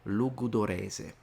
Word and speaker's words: Logudorese: But today we're talking about the northern, or one of the northern varieties, which is called Sardo Logudorese. Did I pronounce that right?